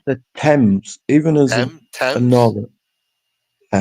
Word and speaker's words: Tems: Yeah, you can say T E M S if you want. Tems. Tems. It's Tems. Yeah, with a Z.